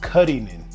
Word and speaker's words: Cullinan: The name of the car is pronounced Cullinan, like the Rolls Royce Cullinan, but it's a Cullinan.